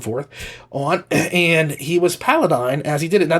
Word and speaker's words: Paladine: not pronouncing, certain things like Paladine or Paladin, okay? And it's not Paladin. I know that because Paladine, I literally got to